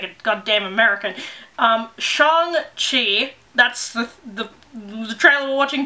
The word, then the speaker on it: Shang-Chi: Shang-Chi, I'm trying to keep remembering to say it properly.